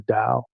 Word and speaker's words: Tao: Healing Energy Through the Tao. And I'm saying Tao because that's how the Chinese typically say it, but it's spelled Tao.